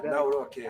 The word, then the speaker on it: Nawrocki: Gave me a little different pronunciation. I said, I want to get it perfect. Did I get it right? Yeah, Good. Good. Yeah, Nawrocki.